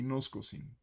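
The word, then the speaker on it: γινώσκω: nos coaching hoy y nos cocina cómo debería ser la pronunciación correcta y nos cocina que si bien se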